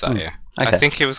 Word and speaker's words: Io: Because yeah, I always looked at it and pronounced it low, and then got corrected saying it's an I, not an L, which is obvious.